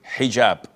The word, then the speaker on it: hijab: And I know in France they don't pronounce the H when it is in the beginning of the word, as in hotel or hello.